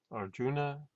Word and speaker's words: Arjuna: We don't have I usually, I is anglicized. We call Arjun. Arjun. You just say Arjun.